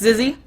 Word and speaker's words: Zizzy: I try to ask the players how to say their names, and I've been told it's Zizzy.